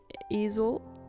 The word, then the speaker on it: easel: An art easel?